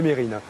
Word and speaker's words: Mesrine: Je vois qu'on garde bien l'habitude aussi de toujours prononcer Mesrine au lieu de Mérine.